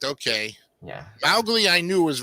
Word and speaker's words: Mowgli: One, I'm gonna give this 78, and two, the pronunciations are Mowgli and Shere Khan.